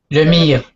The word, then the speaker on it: Lemire: Is that how you pronounce it? Lemire. Lemire, thank you for explaining that.